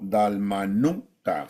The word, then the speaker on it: Dalmanuta: a la región de dalmat o dalmanuta sería la pronunciación correcta palabra del señor Pues